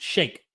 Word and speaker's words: Shike: Dude, Shike, pronounced shake.